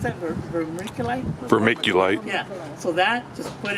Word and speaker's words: vermiculite: So I used how do you pronounce that? Vermiculite? Vermiculite.